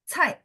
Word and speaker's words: 菜: Jadi dia tekan belakangnya, nggak boleh naik. Cai.